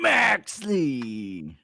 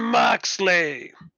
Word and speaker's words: Moxley: Jon Maxley. No, you didn't say it right. Oh, the Jon Moxley.